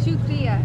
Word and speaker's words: शुक्रिया: Shukriya. Shukriya, right? Shukriya. You pronounce now.